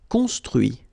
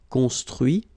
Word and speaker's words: construit: Construire, construit. Cuire, cuit. Détruire, détruit. Instruire, instruit. Okay, so you can notice that even if I put this final T, so as usual, I don't pronounce it. Okay, conduit, construit, cuit, détruit, instruit.